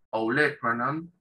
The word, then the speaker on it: olecranon: Que tiene una pronunciación media rara en inglés. Olecranon. Olecranon. En español tiene la misma, se escribe de la misma manera que en inglés, pero con un acento en la E.